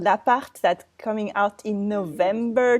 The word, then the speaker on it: L'Appart: I have to say L'Appart.